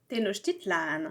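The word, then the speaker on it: Tenochtitlan: avant de s'appeler Merico, elle s'appelait Tenitlan. Tenitlan. Et j'ai regardé, j'ai regardé sur YouTube comment ça se prononce. Ça se prononce comme ça.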